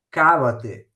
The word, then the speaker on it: cavate: Cavate la baretta dalla zucca. Qua vedete, cavate, l'accento sulla prima A, se non se lese cavate.